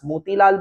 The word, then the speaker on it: Motilal: That is how in Bengali we pronounce their name as Motilal Babu. It's like Motil Babu Ona and Charu Shoshi. That is how it is to be said.